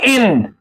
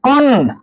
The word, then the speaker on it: an: ए एन। इसको पढ़ते हैं अन या पढ़ते हैं बच्चों एन।